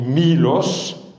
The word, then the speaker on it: Milos: mlos avec un état le état se prononce i donc en grec moderne on dit Milos nous l'avons francisé et